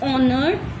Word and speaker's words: honored: Now fifth, our old school gardener was honored, not honored. H is silent, honored. Okay. Always you read honored, so it's wrong.